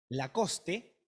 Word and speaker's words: Lacoste: regalo era una chomba lacoste se pronuncia lacoste no la es el final es muda pero nosotros leemos lacoste